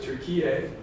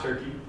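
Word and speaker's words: Türkiye: Um, in Turkey they pronounce it Turkey, not Turkey.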